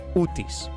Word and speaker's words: Utis: No, it it actually doesn't have Look, the name Odysius in Greek, it's basically Odicas. And ut it's pronounced exactly like that. Utis.